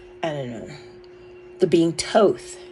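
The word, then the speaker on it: Thoth: don't know the being Toth I pronounce it Toth because that thought tooth the age is silent that second age to me is silent so Toth also stalks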